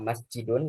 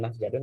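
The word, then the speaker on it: مسجد: Tentu tidak ya, karena orang Arab biasa menyebutnya masjidun bukan masjadun, maka kita tetap mengikuti apa yang diucapkan oleh orang Arab.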